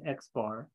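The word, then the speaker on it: x̄: with a line on top of it that's pronounced x bar that represents the sample that's the sample mean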